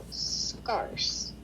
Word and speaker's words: scarce: But if you add a Scar. soft C at the end of that letter, at the end of that word, what would it sound like? Scarce.